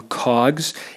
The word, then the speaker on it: COGS: Cost of goods sold has now become COGS, and that's how people would pronounce it.